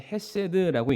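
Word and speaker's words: חסד: 영원하시다라고 말씀을 하십니다 여기서 또한 긍휼이라는이 단어가 히브리어로는 헤세드라고 읽는데요 헤세드의 뜻을 제가 한번 살펴보니까 긍휼 자비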